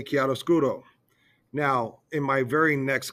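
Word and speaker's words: chiaroscuro: us all to remember the correct pronunciation for KI scuro so she made us over pronounce whenever we talked about it so she made us go kiaro scool and uh really move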